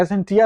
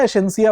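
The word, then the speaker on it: Escientia: एक pharma company थी, एसेंसिया नाम था। एसेंटिया हिंदी में लिखा गया, एसेंसिया उसका सही प्रोनाउंसिएशन होगा।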